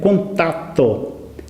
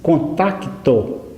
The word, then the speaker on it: contato: é a palavra contato O correto é contato há quem diz contacto com ser antes do T Essa maneira de escrever e de falar com tacto é de antes de 1942 em 1942 houve uma